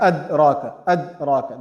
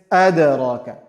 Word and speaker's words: أَدْرَاكَ: The straight is وَمَا أَدْرَاكَ. That is wrong. The proper way of reciting it is أَدْرَاكَ. We bounce on it, kind of.